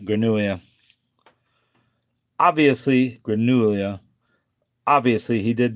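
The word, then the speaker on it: grenouille: So L is like a Y really is how you say a frog. Granua. All right. Granuia.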